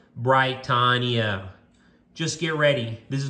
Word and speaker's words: Britannia: Tell those blokes it's pronounced Britannia.